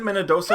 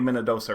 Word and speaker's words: Minnedosa: from minnedosa is that is it minidosa manitoba that's gotta be menidosa right there's no other way to pronounce that yes brandon wants to